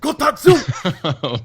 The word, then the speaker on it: kotatsu: It's a Japanese table. You have to say it like that. Kotatsu!